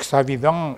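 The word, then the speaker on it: Savidan: Hay un par de gentes, un par de investigadores, Patrick Savidón y así así pronuncian los franceses.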